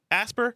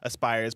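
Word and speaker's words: Aspyr: a collaboration between developer asper or Aspire always pronounced Aspire Aspire media and production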